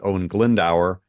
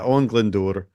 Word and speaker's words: Owain Glyndŵr: I will not refer to him as Owen Glendower, which is what Shakespeare does. Yes. That ain't right. But yeah, Owen Glyndŵr.